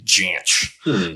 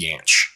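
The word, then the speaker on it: Jansch: be pronounced differently but apparently he pronounced it with a hard j janch apparently the more common way is yanch okay and it's it's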